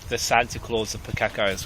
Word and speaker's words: Pukeko: I feel like the Santa Claus of Pukekos right now. I'm saying that wrong, aren't I? Yeah, it's Pukeko. Pukeko.